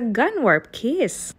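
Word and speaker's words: Gunwharf Quays: ports mot dito sa gun warp kiss ganyan ang tamang pronunciation diyan Huwag niyo akong i-correct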